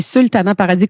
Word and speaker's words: Sultana Paradis: C'est ça, c'est Sultana Paradis, comme ça se prononce.